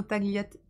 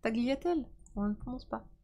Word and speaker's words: tagliatelles: thé le g de tagliatelles militaire on prononce pas le g j'apprends des choses sur